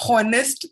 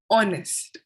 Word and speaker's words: honest: Honest. ऐसा लगता है ना कि O से स्टार्ट किया है इसको. Honest. Yes. Yes. It's Yes. silent. Yes, H is silent.